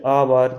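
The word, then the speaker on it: hour: ये लिखा है ऑनर, क्योंकि अगर आपको ओ से पहले एच आया साइलेंट। Honest, आवर, इको।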